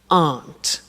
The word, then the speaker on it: aren't: they aren't cheap so the difficult here is the pronunciation of a not which is Aunt okay Aunt good so